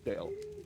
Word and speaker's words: Dale: It's Dale. Okay, that was me. That's my fault. The E is silent. Dale.